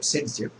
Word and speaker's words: Zaitsev: So that's a regioselective reaction, and this rule, this trend was first observed by Russian organic chemist Alexander Zaitsev, whose name is also sometimes pronounced as Saytzeff.